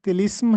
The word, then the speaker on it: طلسم: تلفظ اور معنی بتائیے۔ تو طلسم کا درست تلفظ طلسم ہے تو ایک نیچے زیر لگا ہے۔ اس کا مطلب ہوتا